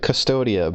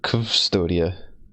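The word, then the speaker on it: Cvstodia: this place it's like it looks like custodia but it's not a u it's a V so it's like custodia very strange would not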